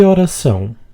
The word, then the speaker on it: horas são: A pronunciation tip here is to pronounce the S in horas and the S in são as just one sound. Que horas são?